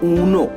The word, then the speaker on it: UNO: उसे कहते हैं ऊनो। उसका स्पेलिंग है UNO।